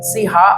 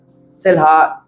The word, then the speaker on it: Selah: SELAH, L silent करते हैं, सीहा और सेलहा कुछ भी कैसे भी बात करते हैं।